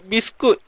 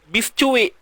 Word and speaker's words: biscuit: Kita sebut biskut. Kita akan sebut ni biscuit ke? Biscuit. Tak. Kita tak akan sebut biscuit. Kita akan sebut biskut juga kan, contoh.